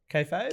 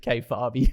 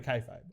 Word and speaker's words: kayfabe: Is that how you pronounce it? Kayfabe? Kayfabe? Yeah. I think it's kayfabe. I don't know. Yeah, Can't I remember. definitely. Yeah, we've wrestling fan in the office is kayfabe. I definitely Charlie. would have Yeah. pronounced it K-Farby. That's what I K-Farby.